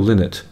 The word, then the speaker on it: Lynott: creative force, singer Phil Lynott, there has been some controversy as to how to pronounce his name. I'm going with Lynott because it's L-Y-N, like Lynn, you know, like King's Lynn, or Lynn, Alan Partridge's